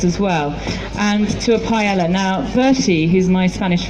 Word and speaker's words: paella: And he says paella, because we pronounce it with the L's.